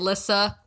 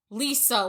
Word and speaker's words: Lissa: It's I get- Melissa without the me. That's it. It is. That's It's me, Lissa. Yeah, exactly. Exactly. So people at my job, I get Lisa, Liza, Lizza, and they're, how do you spell that?